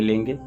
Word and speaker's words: लिंगोक्ता: यहाँ पर थोड़ा समझ लें, ली है, फिर अंगा है, का खा गा घंगा, फिर इसके बाद गा है, फिर गा में ओ की मात्रा, यानी पहले ली के बाद गा का उच्चारण, इसके बाद गा का उच्चारण, गा में ही ओ का उच्चारण होगा।